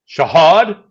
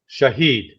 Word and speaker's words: Shahed: Shahad. Shahed. Shahed. Not Shahad.